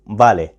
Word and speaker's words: Vale: اسم الكتاب بتاعنا زي ما قلت لكم بالي، بس يا سينيور دي مكتوبة بالفي، مش مشكلة خالص، هقول لكم ليه بتتنطق بالي.